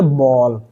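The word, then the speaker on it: ball: जब किसी वर्ड में ए के बाद डबल एल आए या एल के आए तब हम ए को अ पढ़ते हैं।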